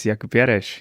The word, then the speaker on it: Jakub Jareš: I'm a bit afraid that I do not pronounce his name correctly. So please introduce yourself. My name is Jakub Jareš.